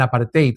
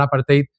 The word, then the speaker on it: apartheid: El apartate en África, el apartate, creo que se pronuncia, que era un sistema legal de discriminación, odio, segregación, racismo, inclusión, perdón, exclusión, brutalidad y castigo.